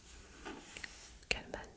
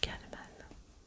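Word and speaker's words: Calmann: aux éditions Caleman Levi Calman et je préfère le prononcer galman la couverture est peinte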